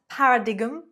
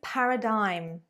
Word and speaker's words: paradigm: It is not paradigm, paradigm, paradigm. It is paradigm, paradigm. There we go.